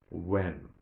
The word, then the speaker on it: when: Even if it is without that H, we say what, or which, when.